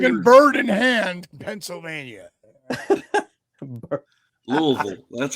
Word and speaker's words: Louisville: Is it pronounced Louisville or Louisville? Well, come on. No. Come on now. No. If you're in Kentucky, it's Louisville. It's Louisville, yeah.